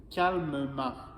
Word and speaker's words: calmement: mais là attention ici je dois prononcer le E calmement pourquoi je dois prononcer